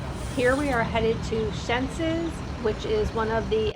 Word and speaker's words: Xenses: I always say it wrong. Xenses is how it's pronounced.